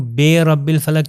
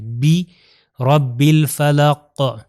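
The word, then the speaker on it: بِرَبِّ الْفَلَقِ: اگر ہم کہوں بے رب الفلق تو یہ اردو والا تلفظ ہو جائے گا. عربی میں ہم نے کیا کہا، کسرہ یعنی زیر کا تلفظ ای ہے، بی رب الفلق قاف.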